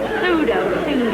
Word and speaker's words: pseudo: Pseudo. I say the P because I'm not a phony. It's there, so I pronounce it. Pseudo, for psychology, for pneumonia, for ptomaine.